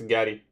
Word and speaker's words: Gatie: Pronounce Gatie? It's Gatie.